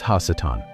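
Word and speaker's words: הַשָּׂטָן: It introduces Hassetan. The harsh breath of that ha syllable changes everything. In Hebrew, ha simply means the and Satan is a common noun.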